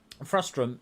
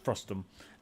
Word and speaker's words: frustum: Frustrum is not a word. It's frustum, and I've said it wrong almost my whole life.